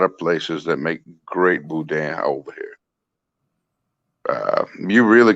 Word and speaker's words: boudin: makes the best boudin is that how you pronounce it yeah boudin man there's a lot of places to make